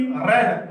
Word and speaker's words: read: शी रेड। हालांकि इसमें रहेंगे, स्पेल वही रहेगा, स्पेलिंग वही रहेगी और फॉर्म भी जैसे लगता है कि वही है, लेकिन इसमें हमें जो प्रोनाउंस है वो हमें पढ़ना होगा रेड।